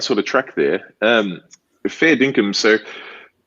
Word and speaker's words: fair dinkum: okay that's that's cool all right next one fair dinkum pronounced perfectly well done dinkum oh my god good